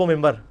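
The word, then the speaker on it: منبر: बनी हुई है मेहराब मेंबर मेंबर के स्पेलिंग क्या है मिन बर लेकिन पढ़ा क्या जाता है क्यों क्योंकि न के बा न साकिन के बाद ब है यह नहीं होता लिखा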